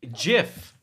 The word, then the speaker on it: Jif: you like for peanut butter cuz I'm a jiff man gif okay but seriously how do you pronounce it gifford jiff jiff the peanut butter ya know but the thing